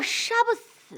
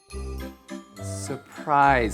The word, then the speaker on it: surprise: 人惊喜叫杀不死啊，杀不死。 Surprise 不是什么杀不死啊，发音要正确啊。Surprise 就是惊